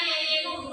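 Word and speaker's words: jejunum: Oke, usus penyerapan tulisannya di situ jejenum, bacanya yeyenum.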